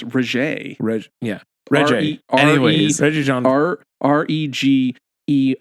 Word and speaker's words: Regé: Renee, it's Regé.